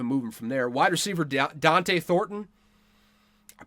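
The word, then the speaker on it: Dont'e: it Dante th thoron there's an apostrophy in it but it's not Deontay thoron it's just Dante thoron why they spell it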